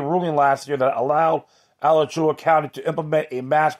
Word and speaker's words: Alachua: news that happened in altua county florida hopefully i pronounced that name correctly all right i'm gonna look here alachua excuse me el chua county florida which is in